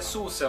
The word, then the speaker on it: SUSE: Apesar que hoje você tem, por exemplo, o Arch, já existia o SUSE, e bom, a pronúncia em inglês é SUSE, mas bom, no Brasil você pode dizer SUSE, não tem como você forçar uma pessoa a falar de uma forma que é diferente.